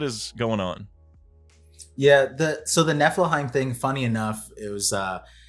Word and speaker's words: Niflheim: And the funny part is I mispronounced it the entire time. I pronounce it like Milfheim, but like with an N.